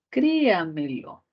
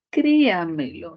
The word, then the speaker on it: créamelo: Créamelo, diptongo, no, hiato, separación. Créamelo. Así sería el silabeo ortográfico. Créamelo. ¿Por qué no van en una misma sílaba la E con la O? Perdón, la E con la A, porque son vocales abiertas y son vocales fuertes y cada una necesita su propia sílaba, ¿cierto?